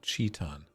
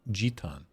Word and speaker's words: jeton: No, not Cheton. It was like with a G. Like a G jeton.